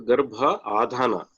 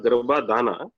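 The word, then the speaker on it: Garbhādhāna: So Garbha Adhana. It's not Garbhadhana. Some mispronounce it sometimes. So Garbha plus Adhana.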